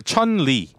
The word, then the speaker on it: 춘리: 그 춘리입니까? 춘리입니까? 아, 춘 그러니까 천리. 예. 천 천리. 그거 이제 영어고 미국식 발음이고.